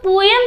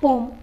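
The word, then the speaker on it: poem: ये बताइए पोएम का सही प्रोनाउंसिएशन क्या होता है, पोएम या फिर पोम। तो मैं बता दूँ, पोएम तो हम बोलते हैं, लेकिन इसका सही प्रोनाउंसिएशन होता है पोम।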